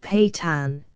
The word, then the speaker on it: Pathans: Pathans, pronounced Patan, an Afghan race settled in Hindustan and in eastern Afghanistan.